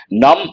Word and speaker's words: numb: used as an adjective num we have got a few times part of speech adjective the letter B is silent unable to feel anything